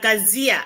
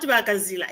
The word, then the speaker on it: Kazia: Kazia, but it's not Bakazila, it's Kazia.